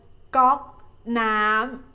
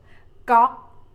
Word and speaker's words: ก๊อก: ก๊อก is like you say, you pronounce the word knock, knock in English, but the first letter you must start with the G sound and end with no K sound.